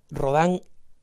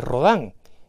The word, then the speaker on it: Rodin: la escultura mundial no rodan el autor del famoso pensador de ródano rodin como quieran pronunciarlo si quieren pronunciarlo en español pero él pero julián